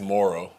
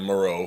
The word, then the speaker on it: Moehrig: part of that is how do you pronounce his last name um well i learned it's morrow i've called him moreau for i still do even though i know how it's pronounced i still get it wrong but um i mean